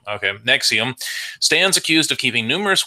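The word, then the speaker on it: NXIVM: alleged cult in XIV M stands accused it's pronounced nexium nexium okay nexium stands accused of keeping numerous women as slaves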